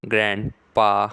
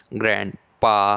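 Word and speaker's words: grandpa: को कहा जाता है ग्रैंडपा तो आज से आप भी स्पोकन इंग्लिश में अपने दादाजी को कहना ग्रैंडपा इसमें डी साइलेंट रहता है तो आज से आप कहेंगे दादाजी को इंग्लिश में ग्रैंडपा ग्रैंडपा ग्रैंडपा spoken English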